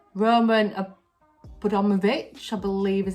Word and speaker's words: Abramovich: So the owner of Chelsea Football Club, called Roman Abramovich, I believe is how you say it, he owns this place.